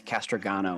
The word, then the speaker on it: Castragano: late entry uh castrojano uicu and um have enabled your microphone thanks counselor thanks councilor Paul and it's castragano with a hard sound at the end oh no castragano Casper